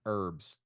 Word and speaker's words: herb: Kind of like in America with herbs, the H is silent. Although if you're English, then you're like Eddie Izzard and you pronounce it herb because there's a fucking H in it.